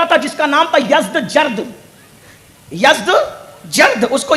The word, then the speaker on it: یزدجرد: اس کا بیٹا تھا جس کا نام تھا یزدجرد، اس کو یزدگرد بھی کہتے ہیں ایرانی لب و لہجے میں، عربی میں یزدجرد کہتے ہیں.